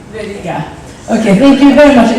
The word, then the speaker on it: Aurelijus Veryga: Aurelijus Veryga. Veryga.